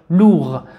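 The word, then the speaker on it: lourd: ال مع الصوت او لو ثم اغ ليس امامها اي حرف من هذه الاحرف، سوف ننطقها كما لو فوقها سكون ونقول غ لوغ. و د هنا هو c'est une lettre muette اي حرف يكتب ولا ينطق.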